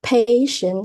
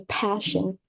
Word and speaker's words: passion: And there are some mispronunciation word, like the word passion And I heard that you say patient, so we can change it into passion or frustrated, not frustrated.